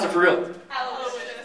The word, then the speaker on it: Aloysius: Aloy Sayas. Aloy Sayas! Get here, like, it's. Well, how do you pronounce it for real? Aloysius. Aloysius.